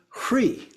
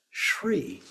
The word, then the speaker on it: hri: And so hri, the H and the R get mixed, blended together, and then the E. But in some cases, this one is actually pronounced as Shri. So an S is put in there in terms of the way that it is pronounced. So you might hear it either of those ways.